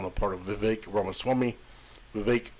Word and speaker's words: Vivek: part of Vivek ramaswamy Vivek rhymes with cake and he seems to